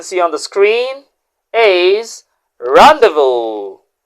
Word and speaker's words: rendezvous: Don't forget, the first word, as you can see on the screen, is rendezvous.